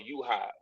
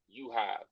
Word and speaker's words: UHive: It's called UHive. Spelled like it's pronounced. UHive with a U, not YOU.